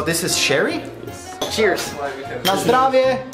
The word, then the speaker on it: na zdrowie: Na zdrowie. How do you say that in Polish? Na zdrowie? Na zdrowie.